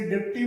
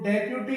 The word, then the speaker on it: deputy: ऐसे ही एक वर्ड है DEPUTY, इसे डिप्टी बोल देते हैं, जो सही नहीं है। इसका सही जो प्रोनाउंसिएशन होता है वो डेप्यूटी होता है।